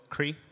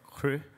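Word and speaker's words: Kry: For example, we backed this company called Cree, or Cru, as Swedes pronounce it.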